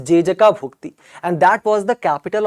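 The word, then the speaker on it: Jejakabhukti: So Jai Shakti's, right, specific pronunciation in the Gond language, in the Gond tribe language is Jejaka Bhukti, and that was the capital of Chandelas also.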